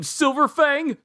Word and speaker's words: Silver Fang: of the hero's name silverfang class s rank 3 silver fang it's not bang it's fang my bad i've been